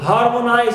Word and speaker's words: harmonize: Harmonize also, nice. It contains diphthong I, but as it ends with eyes, I must stress the first syllable.